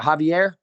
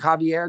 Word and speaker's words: Javier: Is it Javier? Javier Garcia.